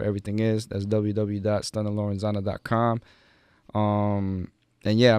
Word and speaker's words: Lorenzana: so everything on social media is a stunner lorenzana that's st you and na lor enz a